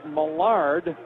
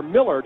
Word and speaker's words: Millard: first half for the birds down 17-15 Chad Millard or Millard is the way that's pronounced the transfer from Louisville he's a senior